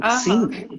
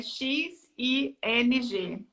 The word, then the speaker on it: Xing: O Xing é o LinkedIn alemão, vamos falar assim. Né? Só um minutinho, César. Se escreve, gente, para quem não conhece, é X-I-N-G.